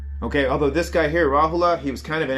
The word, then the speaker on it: Rahula: I was just talking about Siddhartha's son, Rahula. Big pronunciation on that A.